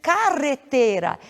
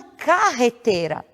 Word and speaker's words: carretera: Regina Roberto Mesmo que a pronúncia desta palavra deve ser carretera e não carretera causa nosso pronunciar-se nos a palavra carretera ela viria com a grafia com g ou com j e não com dois erres sigamos um pouco mais